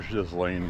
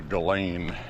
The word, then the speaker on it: Ghislaine: I call her Ghislaine Maxwell. That's what it looks like to me. But the media and everybody else has corrected their pronunciation to Ghislaine.